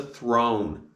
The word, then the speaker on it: throne: The king sat on the throne. And the sounds of throne are th, o, throne. And it's got the silent E at the end, making the letter O say its name.